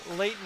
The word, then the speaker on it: Layton: Number 16 at forward, Madison Layton. I believe I just said it wrong. Layton it is.